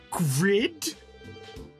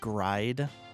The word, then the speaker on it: Grid: Grid? It's pronounced Gride.